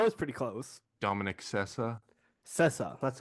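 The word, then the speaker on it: Sessa: Joy Randolph that was pretty close Dominic cessa cessa that's how you say it but yeah it's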